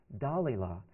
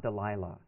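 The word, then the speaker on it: Dalila: and explain to you why I pronounce her name da Lila and not Delilah so when I'm when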